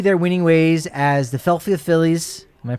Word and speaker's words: Philadelphia Phillies: And a lot of opportunities for the Rockies to continue their winning ways as the Philadelphia Phillies. Am I pronouncing that correctly? Yeah. Philadelphia Phillies.